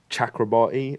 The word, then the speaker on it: Chakrabarti: says yeah I say I say and I say chakrabati and everyone says chakrabati I'm I'm the I play the character I say my own character's name wrong and I'm never saying